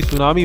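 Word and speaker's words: tsunami: Fact number 15, आपको बता दें कि दोस्तों इंग्लिश का हर वर्ड साइलेंट होता है, जैसे कि सुनामी में टी साइलेंट होता है, परंतु वी इकलौता एक लेटर है जो कि इंग्लिश में किसी भी वर्ड में साइलेंट नहीं होता।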